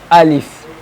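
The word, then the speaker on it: ألف: Okay, Alif, we have to pronounce this while opening our mouth, like Alif.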